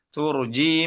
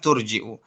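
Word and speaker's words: تُرْجِئُ: Turjiu tasya minhunna wawi ilaika man tasya. Ya, turjiu bukan turji ya. Kalau hafz turji ya.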